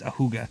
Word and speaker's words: Ajuga: however you pronounce it it's spelled the Jew guy I think it's pronounced ahuga a hugoidie sounds better but